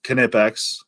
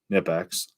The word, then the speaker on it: Knipex: It's kind of like Knipex or Nipex.